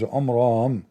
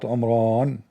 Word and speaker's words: Omran: In fact, by the way, it's not even Umran. He could not even pronounce the word correctly. It is Umram, Umram, not Umran.